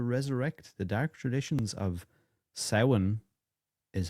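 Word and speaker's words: Samhain: a plan to resurrect the dark traditions of Sin is how it's pronounced in Ireland, but a lot of people call it Sam Hayne. Sin.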